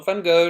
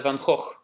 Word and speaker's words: Gogh: to say that Goncourt no van-gogh no van-gogh van Gogh it's a gun court is the way you pronounce in Dutch so maril if you